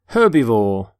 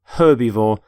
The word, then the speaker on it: herbivore: By the way, you pronounce the H in the word herbivore.